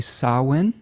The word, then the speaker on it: Samhain: It is also associated with a cross holiday, which I believe is pronounced correctly Samhain, spelled Samhain, a festival of the dead or a liminal space.